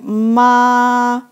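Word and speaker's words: 妈: we put horse horse so it pronounced like ma it means mum so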